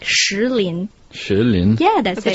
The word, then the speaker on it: Shilin: One of my abiding memories of Kunming would be the stone forest, Shilin, located outside of the capital. But it's wrong. You should pronounce it like Shilin.